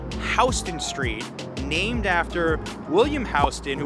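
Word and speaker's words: Houston Street: City is this one how would you pronounce it it's pronounced hon street named after William HST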